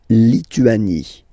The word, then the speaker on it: Lituanie: La Lituanie. Remember in French, sorry, H doesn't exist, okay, so you don't pronounce it, and it's li, tu, a, ni, Lituanie.